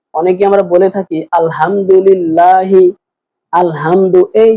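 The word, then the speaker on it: الحمد: একটা শব্দ বলছে যেমন আলহামদু এখানে বড় হা আছে ছোট হা বলছেন আলহামদু এই হা এর পরিবর্তে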